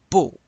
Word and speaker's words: beaux: Il est beau, ils sont beaux. You don't pronounce that X.